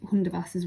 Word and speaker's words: Hundertwasser: Remember, Hundertwasser is spelt Hundertwasser, even though you can't hear the T. Hundertwasser.